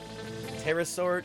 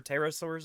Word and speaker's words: pterosaur: how are you pterodactyl there should be a silent P before the tea in Tuesday too right pterosaur Tuesday we could do